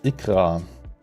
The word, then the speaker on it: Ikra: uh what's Ika Ika is ikra that's how it's pronounce a Ukrainian or Russian